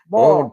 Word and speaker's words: boiled: over at the no you got to say it like the southern the southern people say it boiled Bo boed peanuts B they have them over